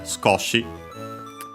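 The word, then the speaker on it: 少し: Uh the accent in is on the co uh uh the of sue is barely heard if at all because it's between a police consonants. So yeah, Scoti.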